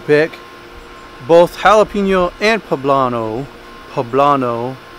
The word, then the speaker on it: poblano: both jalapeno and poblano poblano that's how you say it i do believe i got a lot